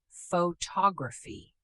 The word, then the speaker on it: photography: Photography. The stress shifts to the second syllable.